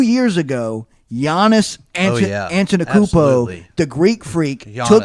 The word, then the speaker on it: Antetokounmpo: I'm impressed you could pronounce his name correctly. I still can't. Giannis, can you say last name again? Giannis Antetokounmpo.